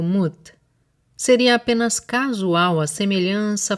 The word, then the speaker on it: Mut: menos uma era abutre o nome dessa deusa era pronunciado mute seria apenas casual a